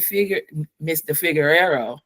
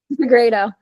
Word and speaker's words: Figueredo: So, Mr. Figueroa, did I say it right? Figueredo. Rado.